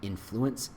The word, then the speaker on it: influence: Take what is and slowly, subtly shape it using influence. I guess I can't speak of it. Influence, right? There's the right enunciation on the first syllable.